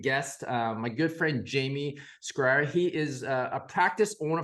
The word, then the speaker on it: Schrier: Schrier is the last name, but Okay, it's Schrier.